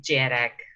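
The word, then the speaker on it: dearg: basically me okay and the next one is jerick yeah thank you though spelled like this there is an extra a there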